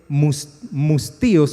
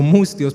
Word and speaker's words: mustios: Pero si escuchaste la palabra, esta palabra que dice mustíos o mustios, porque no lleva tilde, me llamó la atención porque yo no sabía qué significaba esa palabra.